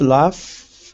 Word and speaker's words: laugh: left Hammer okay uh the verb laugh ends with GH we pronounce it as F uh GH is on